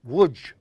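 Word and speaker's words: Łódź: know it out there I got to tell them it's actually ludge l o DZ but I'm polish they pronounce a w and before you came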